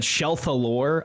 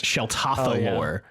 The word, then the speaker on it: Sheltathalore: There was one from the last episode we just released where we said Shelthalore a lot, and it's Sheltathalore is her name.